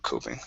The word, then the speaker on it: coping: Coping. Okay, right here. This is a long O.